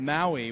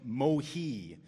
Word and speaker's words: Maui: on whaling vessels and sailors usually pronounce the island's name mohi so we think of it as maui but in those days pretty much everyone called it mohi who was speaking english